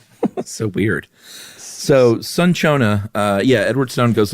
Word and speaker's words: cinchona: Is it cinchona? I just know it's neither. That's so us. It It I just looked it up real quick. It says it's sun-chona.